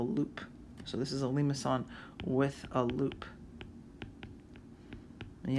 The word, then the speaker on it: limaçon: If the numbers do not match, you're going to get a limaçon. Limaçon. And I wrote it up there phonetically for you, so it has a little thing on the C.